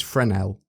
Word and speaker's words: Fresnel: So the lens is Frenel. It is Frenel cuz it's his name.